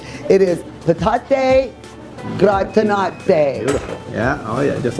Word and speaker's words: patate gratinate: Now let me see if I'm getting this correctly pronunciated. It is patate gratinate.